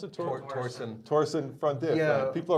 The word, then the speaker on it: Torsen: How do you pronounce it? Torsen.